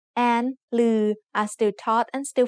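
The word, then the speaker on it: ฦๅ: The other pair of vowels is similar, except they are pronounced like a combination of ลอลิง with the vowel sounds สระอึ or สระอือ ลึ and ลือ are written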